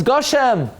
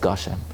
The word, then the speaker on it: Gushem: pronounce it correctly, because now it's not Geshem, now it's Gushem. You know why? Because you never say Geshem, it's always Gushem.